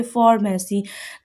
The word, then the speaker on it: pharmacy: है और मैं यहाँ पे फ की साउंड प्रोनाउंस कर रही हूँ, यानी कि फॉर्मेसी।